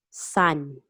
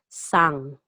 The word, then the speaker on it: san: mr miss or mrs literally means sun or sometimes pronounced as sang sun or sang so regardless of the